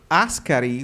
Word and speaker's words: Askari: So, uh Askari, with the accent on the I, is also an Italian term now, right?